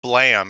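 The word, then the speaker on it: Blame!: Yeah, it kinda reminds me of, this one manga, like, my favorite manga is called Blam. It's spelled Blame, Blame, but it's like, countless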